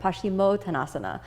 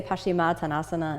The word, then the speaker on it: Paschimottanasana: words together pashima tanasa now sometimes you'll hear this pronounced in Sanskrit pasim tanasa these are both relatively acceptable um some different Traditions than the Ashtanga tradition which is what I'm in we say pasim tasana and some other styles